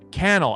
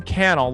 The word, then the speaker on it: Cannell: sean cannell uh sorry kennel i keep saying it wrong kennel like youtube channel oh that is why